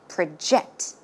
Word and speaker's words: project: okay in this case the stress goes in the second syllable as you can see it's not project when it's a verb it should be project project one more time project so you